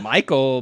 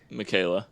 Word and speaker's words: Michaela: And uh that it's I guess that's Michael, but it's spelled weird. I feel Look at that. It's got it. It's a E L A. Michaela.